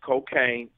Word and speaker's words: Kokane: It's spelled KOKANE _brand. That's cocaine _brand. And if you want to